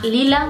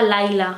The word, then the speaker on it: Lila: La historia del Match de Cupido comienza cuando la protagonista, que se llama Lila, bueno, yo pronunciaba Laila en mi cabeza, pero bueno, como sea, ella empieza a recibir unos correos de una especie de agencia.